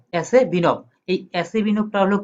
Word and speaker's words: Asebinov: এটি হলো কি এই সূত্রটা কি উচ্চারণ এভাবে, যে আমরা তো পড়েছিলাম যে ASEBINOV, তো এটার একসাথে উচ্চারণ করলে কি হয় এসে বিনভ।